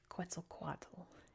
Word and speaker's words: Quetzalcoatl: Like so I'm pronouncing Nahuatl as they're pronounced in English and it's Quetzalcoatl in English, so get that out the way. I know it's pronounced different and I have mad